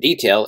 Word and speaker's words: D-Tale: and search for detail and detail is spelled d-t-a-l-e for the imports we're